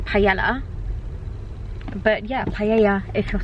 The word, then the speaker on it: paella: Someone told me off for saying it wrong um on YouTube. I think it was I don't know. Paella. How else do you say it? If you're English, you would say paella.